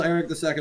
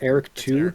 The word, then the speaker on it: Eric II: pleased I'm sure little Eric II will grow up to be a chip off the old block you are plotting against me forever please pronounce it correctly it's Eric too congratulations on finding an